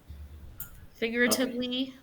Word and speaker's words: figuratively: and literally figuratively figuratively is a tricky word so it's got figuratively it's got five um syllables so figuratively figuratively can you guys say that figuratively yes there's a little trick between the G and the r figuratively figuratively it's almost like you don't pronounce the U so it says spelled